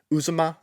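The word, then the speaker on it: Uzomah: know cincinnati's tied in uzuma i believe that's how you say his name if one of those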